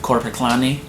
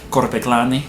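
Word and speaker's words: Korpiklaani: And on top of that, I also like folk metal with Korpiklani. I didn't pronounce that right. You're supposed to roll the R. Korpiklani.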